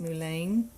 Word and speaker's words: mullein: And one that we found on our deer lease is mullein. Some people pronounce it mullein.